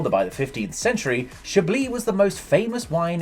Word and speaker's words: Chablis: From its humble beginnings as a Roman outpost, Chablis, pronounced Chablis in French, has become famous for producing the most popular white wine in the world.